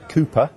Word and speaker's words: KOOPA: singer from the band Cooper is that how I pronounce it Jo that's correct yes Cooper spell with an a a k and an a a k